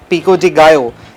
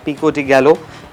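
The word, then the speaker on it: pico de gallo: और पिको डिगो इट्स नॉट पिको डिगलो। ये एक प्रोनाउंसिएशन जो है ना मेक्सिकन ये सालसा इसको बोला जाता है।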